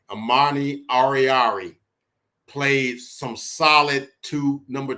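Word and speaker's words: Oruwariye: But Amani Oriari, that's his name, Oriari. Amani Oriari played some solid number 2 cornerback tonight.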